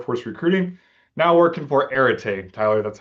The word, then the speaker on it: Areté: Now working for Areté.